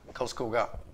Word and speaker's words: Karlskoga: How do you pronounce it? Karlskoga.